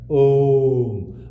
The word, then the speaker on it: Om: that in Sanskrit grammar, A and the U, when they merge together, it sounds like Om. But when you explain Om, then you can say, yes, it is made up of 3 syllables. O, U, Ma.